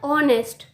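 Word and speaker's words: honest: तो H silent होता है, हम इसको पढ़ते हैं ऑनेस्ट।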